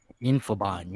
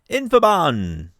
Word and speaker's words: Infobon: Infobon, yeah. Infobon. Sounds like infidels.